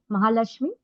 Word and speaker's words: Mahalashmi: Mahalashmi good morning. Hi Rupal. Good morning Rupal. Right. Rupal. And am I pronouncing your name name right? Mahalashmi.